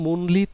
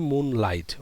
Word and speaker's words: moonlit: One moonlit night, don't say moonlight, okay, it is one moonlit night, and also focus on the pronunciation based on the IPA phonetics.